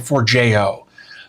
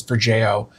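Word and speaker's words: Forgejo: And I think the way it told me to pronounce it was like for Jo. Uh I think is basically what it said. So that's that's kind of what I've been going with is for Jo.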